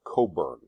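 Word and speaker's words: Cockburn: building itself this is Admiral Coburn um that's how you pronounce it Admiral koben was the British commander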